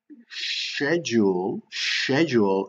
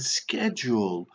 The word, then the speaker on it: schedule: in the UK, and schedule in the US. Okay, however you want to say it. If you say schedule is fine, and if you say schedule is fine as well.